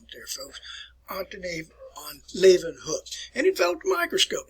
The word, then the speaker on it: Leeuwenhoek: Put a little German pronunciation on it there, folks. Antony von Leeuwenhoek.